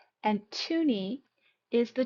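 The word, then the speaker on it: toonie: Now, along with looney, we have tuni. And tuni is the $2 coin. And it rhymes with looney.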